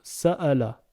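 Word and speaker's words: سأل: Donc sin avec A, donc ça. Lem avec le A, donc là. Ça nous donne le mot sa'ala.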